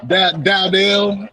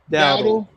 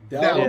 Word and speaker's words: Dowdle: Dowdell. It's Dowdle. Dowdle.